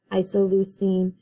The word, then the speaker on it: isoleucine: And all of these that end in ine are pronounced ene, so phenylalanine, leucine, isoleucine.